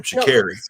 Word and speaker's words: Sha'Carri: Sha'carri. Shout out to you. Sha'carri. It's very easy. It's simple. It's just spelled with the C, but it sounds like a K.